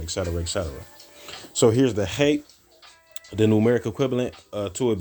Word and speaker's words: Chet: Hate. It says hates there, but it's a hate. CHET would be the correct transliteration according to how you pronounce it.